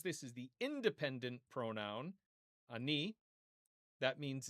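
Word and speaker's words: אני: And the independent pronoun meaning I is ani. Ani. Okay. Chataf patach. This is the short A vowel, the ultra short A vowel. Okay. And then chirik yud.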